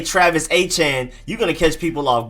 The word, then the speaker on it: Etienne: the ones that like travis etienne we've been saying that wrong for forever for years now i'm glad to know that it's travis a-chan so any names that we